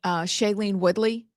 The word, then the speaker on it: Shailene Woodley: And then Shailene Woodley.